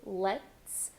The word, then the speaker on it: let's: Start with let's. For that vowel sound, we have the E com acento agudo, let's. Hold that T with an S, very, very, very soft, let's.